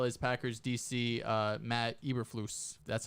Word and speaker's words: Eberflus: quinn as well as packers dc uh matt eberflus that's how you pronounce it um one name i will want